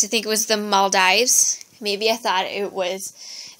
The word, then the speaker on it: Maldives: um I used to think it was the Maldives maybe I thought it was the dies because um it was an island it's an isation but it's actually Mal Dives and lastly we have this African country to